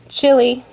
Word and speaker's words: Chile: book so for instance chile which is a very american way of pronouncing it is a country in